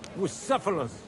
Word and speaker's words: Bucephalus: It's pronounced Bucephalus, Ishka.